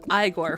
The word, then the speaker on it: Igor: It's pronounced Igore from Young Frankenstein and the Igor Animation movie from John Cusack Animation.